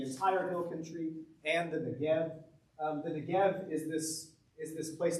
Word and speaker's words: Negev: You may see it spelled Negev, or Negeb, or Negbv. That's because the ba and the va in Hebrew are the same letter.